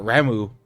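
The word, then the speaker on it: Ramuh: we also saw Sid transform to RMA or ramu as it's pronounced in this one so that's tight uh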